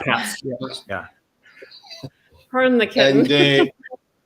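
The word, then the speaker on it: Pabst: Pass. I don't know how you pronounce it. P-A-B-S-T. Yeah, Pass.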